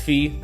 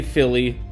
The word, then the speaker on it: Fille: And it is pronounced Fee. So don't say Philly. It's not Philly.